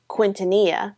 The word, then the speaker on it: Quintanilla: Then I thought, oh yeah, I know the LL sound makes a Y sound, so it's Quintanilla. But then someone pointed out to me, it's not quint, it's quint.